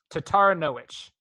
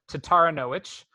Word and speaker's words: Taranowicz: Taranowicz. Which, that's going to be which at the end, right? Wicz? Yeah. Taranowicz.